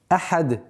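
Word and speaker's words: أحد: При остановке танвин аннулируется и переходит в сукун. И появляется новое правило аль-калкаля, то есть взрывность звука даль.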